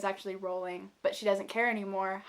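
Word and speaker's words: Rowling: to say her last name I've been saying rolling it's actually rolling but she doesn't care anymore help you pronounce her name fun fact so she wove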